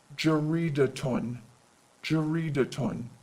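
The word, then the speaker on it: جريدةٌ: sounds with voweling geridaton you'll notice that you hear that ta sound it's because of the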